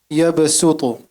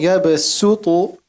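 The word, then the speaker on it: يبسط: For example, yabsutu. Ta is a heavy letter and you pronounce it very well. But the letter before it is sin, which is a light letter. So instead of saying yabsutu, you say yabsutu.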